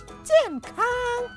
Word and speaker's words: 健康: Cengkang. Yuk kita ulangi sekali lagi, sehat, 健康. Sehat, 健康. Sehat. Cengkang. Nah, sudah benar pengucapannya.